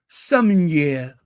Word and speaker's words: sommelier: I wonder how the French pronounce it. Let me see. Sommelier. Okay, it's sommelier. That's how they say it in France. Sommelier. Everything sounds hot in French. Oh, they also pronounce, the feminine pronunciation is sommelier, and the masculine, sommelier.